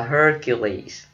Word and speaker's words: Hercules: Hercules, mình đọc là Hercules.